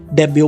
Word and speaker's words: debut: next word है डेब्यू, DEBUT, डेब्यू, यहाँ पर टी साइलेंट है, इसको हम डेब्यू पढ़ते हैं, जिसका मतलब है शुरुआत